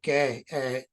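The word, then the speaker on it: Geh: The photograph is by Nick Gay. His surname is spelled G-E-H, lives in Gort, and a lot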